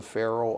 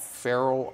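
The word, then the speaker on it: Faroe: you going and spell it's spelled f a r o e yes Pharaoh Islands Pharaoh Islands is um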